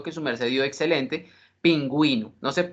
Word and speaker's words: pingüino: su Merced diio excelente pingüino no se no se pronunciaría pinguino sino pingüino pero si usted no